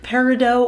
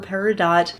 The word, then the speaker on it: Peridot: how to pronounce it it is Cirque Peridot or Peridot both are technically correct just depending on your Regional dialect it's up to you